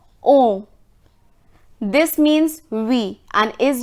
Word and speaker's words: on: Then it's on. We pronounce this as on.